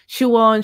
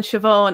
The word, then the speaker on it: Siobhán: No matter what, SI, no matter your dialect or whatever, it's going to be pronounced sh. That sort of sound, like Siobhán, Siobhán.